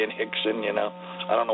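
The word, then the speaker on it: Rickson: And then Hixon and Hoist, but they're all spelled with Rs, but they pronounced R like H for some reason in Brazil.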